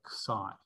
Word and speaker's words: Xi: Sometimes people pronounce it Z, but like if you're going to call it Z, then you have to call this letter P, which is what they do call it in Greek, but we've already got